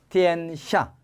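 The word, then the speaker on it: 天下: 티엔샤. 세상이라는 뜻이죠. 안다. 알지자는 어떻게 발음해요?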